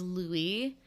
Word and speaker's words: Luai: The baby's name is Louis. It is Arabic. It is spelled Luai.